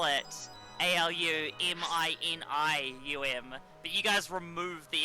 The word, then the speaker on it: aluminium: of iron oxide and aluminum this is a substance that has a thermite reaction what was that carry i said aluminium how it's pronounced so true i just